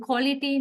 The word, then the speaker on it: quality: Now, see the difference between spellings and the pronunciation. QUALITY. That is a spelling, right? But pronunciation is totally different. Quality is not a phonetic word. You don't write it as how you pronounce it. So the sound is O sound, right?